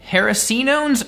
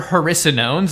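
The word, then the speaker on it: hericenones: And that brings us to some hard to pronounce unfamiliar stuff, starting with haricinones or haricinones. I've heard it pronounced both ways.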